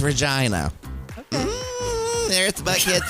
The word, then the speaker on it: Regina: That is how you pronounce that, Regina, Canada. Regina? That's how you pronounce it. It's not Regina, it is Regina.